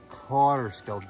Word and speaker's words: Kaaterskill: Kaaterskill, Dutch pronunciation.